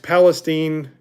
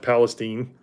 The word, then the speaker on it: Palestine: that area the East Palestine uh I think it's p called pronounced Palestine because it's not Palestine um the train wreck